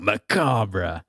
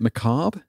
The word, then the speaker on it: macabre: the year for macabre or someone said I can pronounce it McCobb I think was another one yeah there's different people at different groups there was definitely an argument going on as the witch was correct and I think it's just one of those that different mirror regions people say it differently okay well I'll pronounce